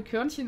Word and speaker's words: K-Hörnchen: Aber die Aussprache Körnchen ist mir lieber.